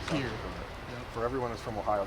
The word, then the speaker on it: Pierre: You told me last year that your hometown is pronounced Pierre. For everyone that's from Ohio, thinks it's Pierre. It's Yeah. Pierre.